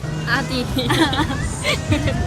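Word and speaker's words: Äddi: 발음이 진짜 좋아요. 감사합니다. 에디. 아디.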